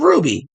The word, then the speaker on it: RWBY: It was giving me OG Yang from Ruby. Look it up. Ruby is spelled RWBY.